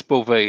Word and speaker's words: Beauvais: And it's Beauvais is from Quebec, and the S is silent.